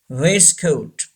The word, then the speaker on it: waistcoat: race coat yes we don't pronounce the T is silent base coat say this world waistcoat number ten cupboard don't sink a boat a